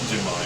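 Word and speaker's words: Njinmah: I'm going to try and get the pronunciation right. Justin, is it Jinmar? Jinmar, yeah.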